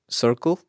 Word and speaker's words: Cercle: I found him through there's this channel called Circle, but it's spelled Cercle.